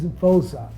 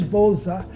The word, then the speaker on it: Voza: And South Africans, when they pronounce V, it's like W. So they thought that I was from South Africa because I'm with a South African guy. My name is Vosa. That's how they pronounce it, like Woza Voza.